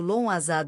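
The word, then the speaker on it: Lughnasadh: Lugnazad pronunciado. Lon Azad, um festival de colheita comemorado no início de agosto, marcando a primeira colheita do ano.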